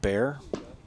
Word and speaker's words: Bayer: for Mr Bayer Mr bear I believe they call refer to it B A ye R but pronounced more like bear and young Easton Stone